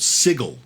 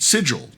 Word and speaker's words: Sigil: 90s, the main city was called Sigil with a hard G. Oh, interesting. However, no one actually read that part in the book, and so everyone called it Sigil, to the point where